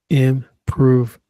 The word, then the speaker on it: improvement: Improvement. It's improvement stress on the second syllable.